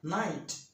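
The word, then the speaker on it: knight: নাইট, যোদ্ধা। Knowledge, জ্ঞান। নি, হাঁটু। নাও, হাতল। আবার বলছি, ইংরেজি শব্দের শুরুতে কে-এন থাকলে কে-এন এর উচ্চারণ দন্তন্য হবে।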